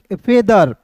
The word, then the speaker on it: feather: FE फेदर, क्या पढ़ेंगे? फेदर पढ़ेंगे। यहाँ पे थोड़ा समझिएगा, FATHER रहेगा दोस्तों, तो इसे हम लोग पढ़ते हैं फादर, लेकिन इसे फेदर पढ़ेंगे।